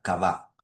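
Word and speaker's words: קוה: Uno de los principales es este, que se pronuncia cabá. Ahí les puse cómo se escribe.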